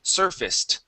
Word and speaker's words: surfaced: Okay, so instead of saying surfaced, okay, the ACE here will actually be pronounced like a short I and an S. Okay, so this is surfaced.